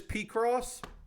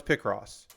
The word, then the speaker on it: Picross: but here's the thing I learned it as PR cross I know it's not PR cross I know it's picross that's P it's not P I know that I'm aware of it I still say it wrong because I read it as PR cross and that is how it is in my head again I'm I'm aware